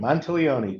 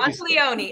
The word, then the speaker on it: Monteleone: Did I pronounce it right? Perfect. Monteleone, just like Monteleone.